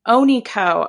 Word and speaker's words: Onikho: Onikho.